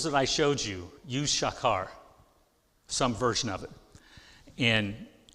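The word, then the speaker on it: שָׁקַר: If it's a verb, it's pronounced shakar.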